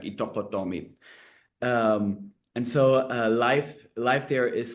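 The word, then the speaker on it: Ittoqqortoormiit: months in northeast Greenland, in Iqtoqottomiut or Iqtoqottomiit, as the locals say it. It's quite hard to pronounce, but if you want to show off to your friends, it's easy if you think about eat and then a duck and then meat. So eat duck meat, and if you say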